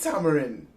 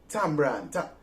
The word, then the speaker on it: tamarind: Our first story, how do you eat tamarind? Tambran. We always pronounce Tambran, as the locals say.